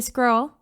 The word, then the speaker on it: squirrel: If you just say squirrel, like it rhymes with troll, you'll be fine.